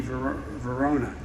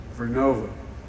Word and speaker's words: Vernova: COSA makes wind towers that's going to go into turbines made by GE Verona. Excuse me, I mispronounced it. Vernova in Florida and New York.